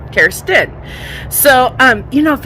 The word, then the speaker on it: Kerstin: my nickname growing up because Kersten that's how you say my name. CARE-stin so um you know